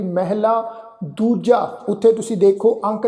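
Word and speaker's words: ਮਹਲਾ: अगे शब्द है जी महला, इनू महला इस ढंग नाल उच्चारण नहीं करना। इस शब्द का पाठ उच्चारण करांगे महला।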